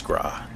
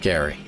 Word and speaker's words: Gra: And yes, it's Gra. Not Gary. You be mispronouncing it.